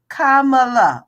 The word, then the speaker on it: Kamala: people in the back in the back row Kamala okay and if you can't pronounce it you probably need to go back